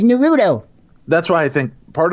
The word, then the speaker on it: Naruto: Naruto run? I'm going to get a bunch of stuff from anime people. That is not how you say it, Tim. That is Naruto.